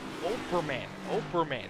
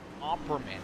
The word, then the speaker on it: Operman: The 35 is pronounced Operman, not Opperman.